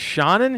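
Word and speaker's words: Seanan: spelled S-E-A-N-A-N, but it's pronounced Shannon.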